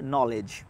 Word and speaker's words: knowledge: নলেজ নলেজ নলেজ right so নলেজের লাস্টে সুন্দর করে দেখুন যে EDG আছে EDG আছে সো EDGE এখানে ডিটা সাইলেন্ট হয়ে যায় সবসময় সাইলেন্ট হয়ে যায় সো ডিটা সাইলেন্ট হয়ে গেলে তাহলে আমার লাস্টে কী থাকলো শুধু তিনটা ওয়ার্ড EGE সো কোথাও যদি ইজ থাকে EGE থাকে সেখানেও ইজ প্রনাউন্স হবে আমরা বলি নলেজ তাই না নলেজ না